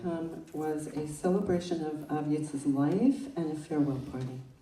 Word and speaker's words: AvYitz: And the closest I could come was a celebration of AvYitz's life and a farewell party.